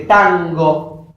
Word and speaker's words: tango: Porque esta N se nasalariza velarmente. Tango. Tango. No es lo mismo que pronunciar Nadia. Fíjense la diferencia. O naranja. Es como una N más continua. Es una N nasalizada, velar.